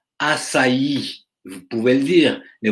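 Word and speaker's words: açaí: couronné d'une volutes blanche son nom se prononce assailli vous pouvez le dire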